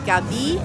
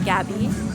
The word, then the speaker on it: Gabi: So here it's Gabi instead of other countries it's Gabby with the accent on the A.